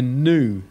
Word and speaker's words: nu: which is called a new which is an n sound make sure you don't think it's a V sound it's an n sound okay it's n as in net it's a nut sound and it's called and